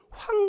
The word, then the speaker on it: 황: 못합니다 외국 사람들이 그래서 황 발음하면 어떻게 발음하는지 아세요 그 사람들은 제가 듣기로는 제가 만난 사람들은 황 발음을 못하니까 꽝이라고 얘기합니다 낮과 낮과 그리고 황 그럽니다 그러면 안 돼요 발음이 못해요 황 발음 자체가 안 되나 봐요 그래서 이제 더 좋은